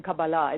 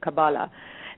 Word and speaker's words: Kabbalah: So and obviously I'm pronouncing this incorrectly because you're saying Kabbalah instead of Kabbalah.